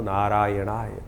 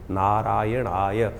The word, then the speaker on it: नारायणाय: करने का प्रयास करें मंत्र का उच्चारण बिल्कुल सही होना चाहिए कई बार लोग मंत्र का जप करते करते थोड़ी सी गलती कर देते हैं नारायणाय नारायण नारायण नारायणाय नारायण नाराय नहीं है नारायणाय ओम नमो नारायणाय इस